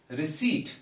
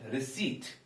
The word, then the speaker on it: receipt: got its own beauty so it is receipt so p is silent receipt receipt another word is that